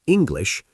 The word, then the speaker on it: English: In the word English, make the glish clear, English.